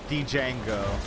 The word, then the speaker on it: Django: No, it's Django with a D. Yeah. Django. But it's pronounced Django.